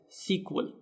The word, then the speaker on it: SQL: an sql developer so sql is often pronounced as sequel so many people either